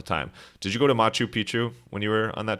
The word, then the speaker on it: Machu Picchu: But did you go to, and I pronounce this wrong all the time, did you go to Machu Picchu when you were on that trip? That was pronounced perfectly, I think.